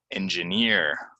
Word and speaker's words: engineer: of success learning languages engineer goes on the last syllable that that tends to